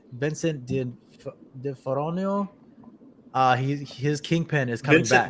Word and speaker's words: D'Onofrio: Vincent D'Onofrio. His Kingpin is coming back. D'Onofrio. There you go. There you go. Say, I told you I butchered his name.